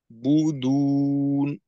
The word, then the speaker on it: تعبدون: বু উচ্চারণ করার পর একটু ছেড়ে আবার শুরু করা। তো এই ছাড়াটা বলতে একেবারে ঠোঁট যে পরিপূর্ণ খুলতে হবে তা না, ঠোঁটের গোলটাকে একটু ভেঙে দ্বিতীয়বার আবার করা।